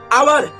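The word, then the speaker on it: hour: जैसे एन हावर, sorry an आवर, N honest, N honest. तो ध्यान दीजिएगा यहाँ पे एच साइलेंट हो जा रहा है, एच क्या हो रहा है?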